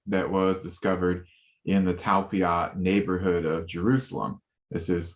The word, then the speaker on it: Talpiot: And you talk about the relationship between Mary Magdalene, and you mentioned now correct me if I'm wrong how to pronounce this, the Talpiot Tomb? Talpiot Tomb.